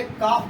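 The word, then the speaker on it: calf: L writing में आप ये लिखेंगे, परंतु आप प्रोनाउंसिएशन जब भी करेंगे तो उसको काफ बोलेंगे, न कि काल्फ बोलेंगे।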